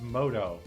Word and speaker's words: Muto: unlocked or i mean it's pronounced moto but in what world does m-u-t-o get pronounced moto i mean i'm sure